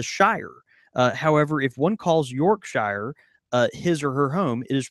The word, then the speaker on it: Yorkshire: lived in the Shire however if one calls York Shire his or her home is pronounced Yorkshire and he says that why oh